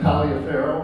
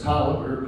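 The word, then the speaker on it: Taliaferro: to uh major caliber it looks like Talia Farrow but it's caliber pronounced and he was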